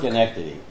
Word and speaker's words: Schenectady: Okay, this one, I'm not even sure how to pronounce it. Is it Schenectady, New York? Schenectady.